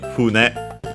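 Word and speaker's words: 船: strictly Japanese reading usually, which is fune, accent on the first syllable.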